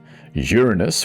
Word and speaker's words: Uranus: Uranus, which is the correct pronunciation, has 28.